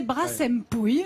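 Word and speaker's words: Brassempouy: Parce que alors, nous, on hésite, dans le Pays Basque en tout cas, entre Brasempouille et Brassempouille. Mais je crois que c'est Brassempouille. Alors moi on m'a dit de prononcer Brassempouille, donc je fais exactement ce qu'on m'a dit.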